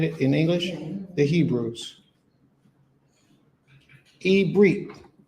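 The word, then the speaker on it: עברית: Ibrit is how you say Hebrew in Hebrew.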